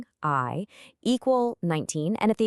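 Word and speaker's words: 愛: So, A is 1 and I is the ninth letter.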